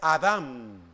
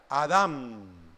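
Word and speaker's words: אָדָם: m sin acento en la palabra hebrea es Adam y voy a hacer el énfasis con mi con mis labios Adam con m no es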